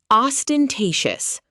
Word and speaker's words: ostentatious: ostentatious os-ten-ta-tious adjective Designed to impress in a showy or extravagant way.